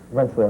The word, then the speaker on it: Rensselaer: Rensselaer, right.